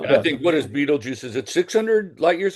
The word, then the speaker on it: Betelgeuse: Betelgeuse. It's not Beetlejuice. That's Okay, in the movie. it's pronounced the same. No, it's Yeah, but pronounced it's differently.